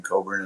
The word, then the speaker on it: Cockburn: for sure I mean people hear the same the name Coburn and they see how it's spelled and they don't always